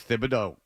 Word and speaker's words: Thibodeau: It is Thib, by the way. I know we all say Tib, and that was his nickname, but that's I didn't mispronounce it.